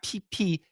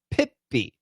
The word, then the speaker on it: Pippi: Yeah, not PP, Pippi. It's a short I and then a long E sound. Yeah, so it's a little bit different. In Korean, you might say pipi, but that sounds funny in English.